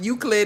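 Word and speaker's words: Euclid: And then first of all, the only reason why I know it's pronounced Uklid is cuz I heard some girl from Brooklyn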